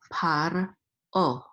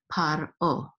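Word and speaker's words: פַּרְעֹה: And this is an ayin with a cholem, and this hay is silent, so this is o, par o.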